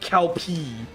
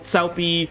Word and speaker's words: Cao Pi: Okay, their pronunciation is shit. Right? Okay, we still have Cow Cow and Cow P in Dynasty Wars 4 and 5.